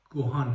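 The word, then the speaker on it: ご飯: هستش و همین طور این یکی کلمه درستش گوهان هستش و یا این یکی کلمه درستش اونسن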